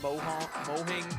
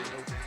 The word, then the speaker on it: Mojang: I think it's actually pronounced Mohang, but I say Mojang.